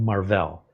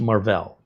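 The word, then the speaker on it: Marvell: more Enterprise business corporate stuff and they're called marll I know it looks like Marvel pronounced marll and almost universally if you have a 10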